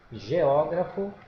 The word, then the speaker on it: geógrafo: destacado veja lá geógrafo olha a sílaba tônica com acento aqui geógrafo é o profissional especializado